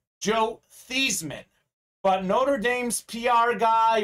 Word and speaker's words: Theismann: change his name to theisman so it can be theisman going for the heisman so his name is